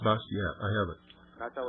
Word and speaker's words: Bastiat: name is b a s i a t bastiat yes it's pronounced bastiat I have it I thought was quite remarkable